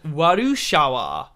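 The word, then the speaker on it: ワルシャワ: up to this and they pronounce this as warushawa like warsaw and she looks at it being like wasa like that and it gets pronounced as marushawa warushawa which is absurd to me these other ones here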